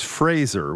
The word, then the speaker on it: Fraser: We're live from GBH's Fraser. We pronounce it right that time. Not Fraser.